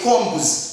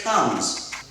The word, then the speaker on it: combs: Spoons, fingers, sticks, combs. Here we don't say combs, no. This B is silent. We say combs. One comb, igisokozo kimwe. Two combs. B ntabwo bivugwa. It is silent.